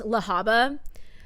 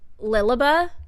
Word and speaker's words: Lahaba: And like, I know it's pronounced Lahaba, but I pronounced it, especially because she would say Lily, I pronounced it Lilaba.